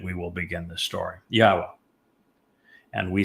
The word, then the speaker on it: Yahowah: Yahwa and we say it Yahwa. And that is because the yod and the he are understood from the way Yahweh introduced his name in the Torah which explains the pronunciation of the law.